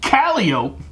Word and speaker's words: Calliope: If you pronounce it calliope, it's the street in the Muses section of town.